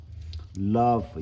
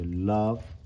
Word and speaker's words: love: love 얘기하면서 이것도 마찬가지로 그 연구계 쪽에서 입꼬리를 최대한 길게 벌리고 연구계 쪽에서 소리를 내면 자연스럽게 삭갑 발음이 나온다. love 이렇게 love.